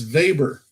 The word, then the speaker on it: Weber: we pronounce Alfred Veit he's German so apparently it's going to be Alfred Weber Weber survey Berrien analysis it's not Weber it's Weber and we're gonna use